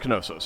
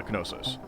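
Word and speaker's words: Knossos: Uh it it should be pronounced Konosus. Yes. um KN in the like we've dropped the K from a lot of those but it it should be uh Kosis.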